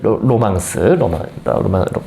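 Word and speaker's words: 浪漫: 그래서 로망스어로 된 로마가 지배했던 각 지방에서 떠도는 그런 기사의 모험담 이야기, 그런 거를 원래 이제 로망 또는 로망스라고 이렇게 불렀다는 겁니다. 로망스어로 쓰여진 소설 이야기를 로망스로 불렀다.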